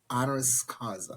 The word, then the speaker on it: honoris causa: honoris causa. Did I say that right? I said it wrong, Hmm. didn't I? What did I say? Yes. Honoris Say it. causa. Honoris causa.